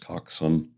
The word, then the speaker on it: coxswain: Coxin, spelled C O X S W A I N, pronounced Coxson, is an old British naval term, and it's just small boat driver.